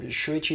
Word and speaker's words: Shuichi: I'm Shuichi.